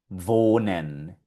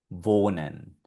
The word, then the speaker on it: wohnen: La W en alemán siempre va a sonar como una V. Va, ve, vi, vo, vu. Y aquí tenemos varios ejemplos de palabras donde aparece esta letra. Por ejemplo, Wasser. Ya vimos anteriormente que Wasser es agua. Aquí tenemos el verbo warten. Warten, con esta W, warten es el verbo esperar. Aquí tenemos otra donde está la W.